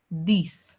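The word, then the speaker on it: dix: 10 is pronounced as this.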